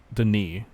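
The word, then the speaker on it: D'ni: The strategy guides and manuals all spelled it Dunny, but it's definitely correctly Denis, and I believe it is pronounced in the later games as Dunny. So it's Dunny. Denis. Okay. It's like you're saying Danny, but it's actually Denis.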